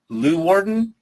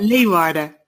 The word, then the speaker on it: Leeuwarden: was actually set, and I'm going to horribly mispronounce this, Leeuwarden in the Netherlands. Is that even close to the right? Leeuwarden.